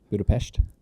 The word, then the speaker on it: Budapest: way you said that Budapest yeah little sh there at the end that's how you say it I didn't know that